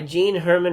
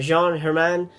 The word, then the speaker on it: Jean Herman: interesting movie directed by gene hermann or jean hermann i guess is how you would pronounce it in french starring alain delon and